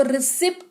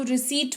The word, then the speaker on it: receipt: फिर है RECEIPT, इसको रिसिप्ट नहीं पढ़ेंगे, इसको रिसीट पढ़ेंगे।